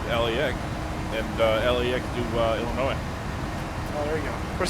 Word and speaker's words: Illinois: Just uh heads up, it's Illinois, not Illinois. The S is silent.